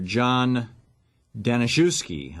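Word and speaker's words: John Daniszewski: the ap's managing editor John danuki I believe is how it's pronounced talked about this the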